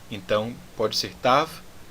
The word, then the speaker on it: Tav: Então pode ser Tav, que é a pronúncia moderna, ou Tal, que é a pronúncia mais antiga.